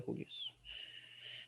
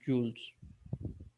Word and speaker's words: julios: Entonces se pronuncia julios. Bueno, usted puede ponerse fancy y decir joules. Pero vamos a hacer latinos y decimos son julios.